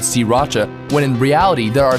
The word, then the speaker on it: Sriracha: off the pronunciation it's si Racha don't bother paying attention to that first R si Racha three separate syllables okay you try si Racha alright we're on the